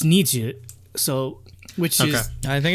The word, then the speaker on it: NiziU: niji niji means rainbow so i thought okay niji you but apparently it's nietzsche so which is i think it's does it